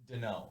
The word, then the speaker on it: Deneau: we sat down here proper pronunciation of your last name yes it's dano dano all right i was